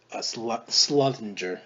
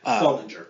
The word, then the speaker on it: Sullinger: I was saying that's Tim Duncan and Jared Slungger. Slunginger, I can't pronounce his name. Sullinger. Solinger. Thank you.